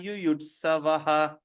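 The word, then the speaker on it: yuyutsavaḥ: That means there is a silent A at the back. So Yuyut Savaha.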